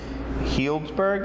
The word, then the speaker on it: Healdsburg: brew pub here in Healdsburg. Is that what it's called? Healdsburg, yes. Yeah. It's a tough one for people to pronounce.